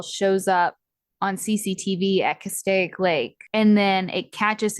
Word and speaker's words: Castaic: say this I meant to Google how to pronounce this Lake Castaic yeah Castaic Okay cool so uh CCTV saw Bryce 90